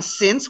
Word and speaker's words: since: since science and again since one syllable science has two syllables so i've been here